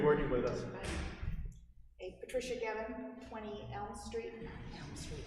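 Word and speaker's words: Guevin: Gavin. U is silent.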